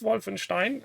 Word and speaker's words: Wolfenstein: So, as you see, I am in front of Schloss Wolfenstein, and this is how you pronounce it.